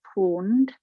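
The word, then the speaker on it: pwned: There is a site you can go into, and it's called Have I Been Pawned? And again, I will share this in a moment. And pawned is spelled P-W-N-E-D.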